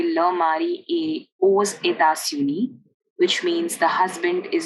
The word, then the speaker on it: aux: And hence, to avoid vowel clash, we pronounce the X in this sentence. So we say aux États-Unis.